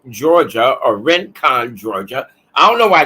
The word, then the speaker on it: Rincon: is located right in Rankin Georgia or Rincon Georgia I don't know why they call it ranking it's spelled r-i-n but it's pronounced r-a-n rent con Georgia all right and